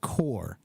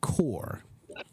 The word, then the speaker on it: corps: like like corpse but it's actually pronounced core the the p is silent it's it's a French word if I remember right and that's why the p is silent so it's the Diplomatic core core the court count